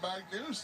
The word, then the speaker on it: Magnus: It's spelled M-A-G-N-U-S, which I say Magnus, but they're saying Magnus like it's got 2 O's in it or something. Anyway.